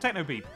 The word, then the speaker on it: Technopip: Presumably, in whatever language Technopip is the name of the mouse, it's pronounced Technopeep. Or rather, Pip.